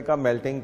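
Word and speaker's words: Kamala: America की कौन थी कमाला हैरिस हम लोग कमला बोल देते हैं थोड़ा सा लेकिन वह कमाला हैरिस वह अपने आप को कमाला हैरिस बोलती हैं लिखते हैं आप कभी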